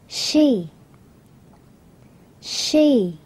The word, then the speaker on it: She's: Sau từ này là có một chữ cái S, nhưng chúng ta không được đọc là S mà phải đọc là Z.